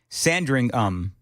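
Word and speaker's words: Sandringham: JT says the estate is called Sandingham. The British rarely say ham in the names of places. Birmingham, for instance.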